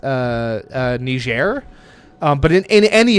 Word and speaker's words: Niger: be perfectly correct here you would have to adopt the French sounding okay so it's its official language is French so that is why it is pronounced ner um so there you